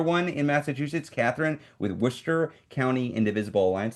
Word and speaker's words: Worcester: Another one in Massachusetts, Catherine with Worcester County Indivisible Alliance. That's how you pronounce that, right? Worcester, not Worcester. It's Worcester, Massachusetts. Correct me if I'm wrong.